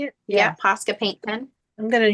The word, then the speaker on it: Posca: Yeah, Posca paint pen.